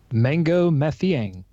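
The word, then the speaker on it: Mangok Mathiang: how do I pronounce mangok Matt yang mango matthean mango yeah silent gay mango math young alright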